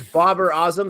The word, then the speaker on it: Babar Azam: So it's Babar Azam. That's how you say it. Yeah. Man, we get it wrong every time.